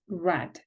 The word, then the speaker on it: read: haven't read it yet the verb read is irregular although you spell it in the same way you pronounces it differently the past participle form is red let's look at the